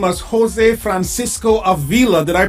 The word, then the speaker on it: Avila: now I pronounced your name as Jose Francisco Aila did I pronounce the last name incorrectly Aila Aila beautiful exactly yeah now you know the word